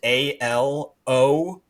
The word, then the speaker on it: Alonge: whatever, and Allonge, which is Alonge.